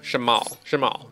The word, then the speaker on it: Shamal: sudri we're gonna grab shamal shamal that's how you say it I think next we're gonna activate